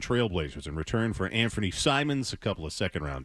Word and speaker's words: Simons: Is it Simmons or Simons? Simons. Simons. And did I say Simmons? My bad. Okay. So, but but it might be pronounced Simmons. No, it's Simons.